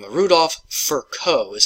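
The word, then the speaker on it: Virchow: Then came along a guy by the name of Rudolph Furco is how you pronounce that.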